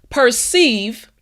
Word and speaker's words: perceive: Don't forget that V, front teeth, bottom lip.